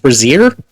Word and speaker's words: brazier: Wow, is that word actually pronounced brazier? Like a bra?